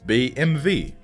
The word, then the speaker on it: BMW: manufacturer which is BMW Germans pronounce it BMV b m v the home the little W in English is v in German by the way